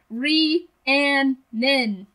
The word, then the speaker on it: Rhiannon: Just clarifying, Rhiannon. That's like how you pronounce it.